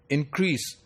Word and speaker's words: increase: For example, if we give the stress in the beginning of the word increase, it becomes a noun. If we give stress on the second syllable, it becomes verb.